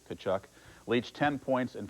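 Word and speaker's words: Tkaczuk: We mentioned it because Canuck rhymes with Tkachuk.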